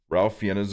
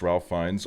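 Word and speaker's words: Ralph Fiennes: where I'm like yeah this is all fine Ralph fenes is pronounced Ralph fines I actually talked about this yesterday on my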